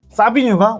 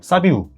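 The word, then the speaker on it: Savinho: 사비뉴가 오늘 오피셜이 떴죠? 사비우. 맞다. 죄송합니다. 이 사비우가 네. 이제 본인이 영상을 찍었더라고. 저는 사비뉴가 아니고 사비우라고 발음해달라고 해가지고 이제 사비우라고 부르겠습니다.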